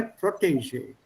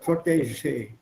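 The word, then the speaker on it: protégé: It's a French word, so pronounce that je, P-R-O-T-E-G-E. E with an accent, G, E again with an accent. Protege. What accent liegt auf der ersten Silbe? Protege, not protege.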